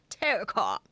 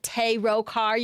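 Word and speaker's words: Terokkar: Thank you, that's a little bit better. Terrakar. Not Terokar. You guys don't want me to say Terokar? Terrakar.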